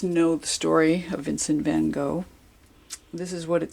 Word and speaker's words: van Gogh: Okay, Vincent van Gogh, or Van Gogh as it's pronounced in Dutch.